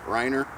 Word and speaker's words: Reiner: buddy and it's uh I guess it's pronounced Riner it's a German company that I know of I'd have to ask my wife my wife speaks a little bit of German and she always corrects me on how I pronounce stuff re e i n e r Riner 71 gold and uh